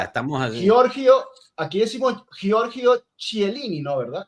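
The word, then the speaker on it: Chiellini: Georgio, aquí decimos Georgio Chielini, ¿no? Verdad, decimos Georgio Kielini porque entendemos que es un nombre italiano y lo pronunciamos como debe ser.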